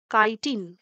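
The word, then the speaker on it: chitin: আর ফাঙ্গাসের ক্ষেত্রে প্রধান উপাদান সেল ওয়ালের সেটা হচ্ছে কাইটিন, ঠিক আছে, উচ্চারণ হচ্ছে কাইটিন।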